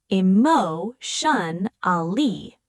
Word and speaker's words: emotionally: Notice the rhythm. Emo shun ali. Four syllables.